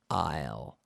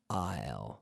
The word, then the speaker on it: aisle: Isle just like the contraction of I will Isle Isle so this is best